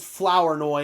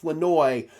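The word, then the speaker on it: Flournoy: And I know it says Flowerinoi. It's what it looks like, but it's pronounced Flenoi.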